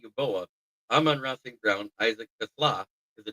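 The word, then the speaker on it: TeSlaa: Brian Branch, Ghille Dorsy, Miles Ranger, Kenny Yuboa, Aman Rossing Brown, Isaac Kasla because it's actually pronounced Tasla.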